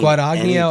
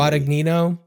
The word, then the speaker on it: Guadagnino: I don't know if I've seen Guadagnino. I think I pronounced it wrong. His actually Guadagnino.